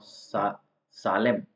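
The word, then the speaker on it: solemn: है शाप देना और सालेम सालेम का मतलब होता है ये इसमें भले ही इसम लिखा हुआ है लेकिन इसमें साले म ही आएगा ठीक है सालेम सालेम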